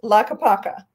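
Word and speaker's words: Tlaquepaque: that's not right i took a picture it's pronounced la capaca and it is actually designated one of those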